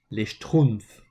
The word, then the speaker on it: les Schtroumpfs: This is pronounced les Schtroumpfs.